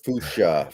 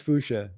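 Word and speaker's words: fuchsia: I think it's it I think it's fusa that's actually right I that sounds right I always want to pronounce it with the IIA and I I it but that's not right um offensive line for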